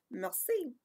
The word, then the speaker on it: merci: thank you in french it's merci you had say it like this mer c can everyone say melcy now i took french when